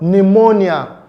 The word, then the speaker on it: pneumonia: It's the word pneumonia. Pneumonia. Pneumonia is spelled with a P, but the sound P is silent.